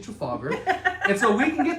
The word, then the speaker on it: Trafalgar: They pronounce it a little weird though, but it's actually Trafalgar.